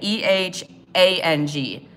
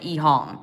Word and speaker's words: EHang: They're the furthest along as far as like passenger Jones, with a E-H-A-N-G. Some people say Ehang, but I think they pronounce it Ehong, but it's spelled Ehang with no space in between.